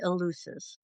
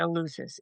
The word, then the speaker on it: Eleusis: Well, people say it a lot of different ways, and it kinda depends Mm, where you're from. I say Eleusis.